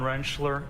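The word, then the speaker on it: Rentschler: Could you please state your name for the record and spell it? Uh, Dr. Wrenchler.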